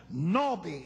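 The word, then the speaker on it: נביא: Now it's pronounced according to Strong, Nawbe, N-A-W-B-E-E.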